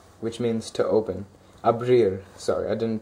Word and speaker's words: abrir: IR conjugation and the verb I'm using is a Breer which means to open abrir sorry I didn't pronounce it there right so the first is